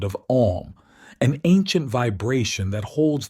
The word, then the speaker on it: Om: The syllable Om is made up of three distinct sounds, A, U, and M.